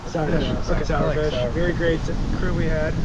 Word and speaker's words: Sauerfish: I thought it was a Sawyer fish. It's not sour. It's like sauerkraut. Sour fish.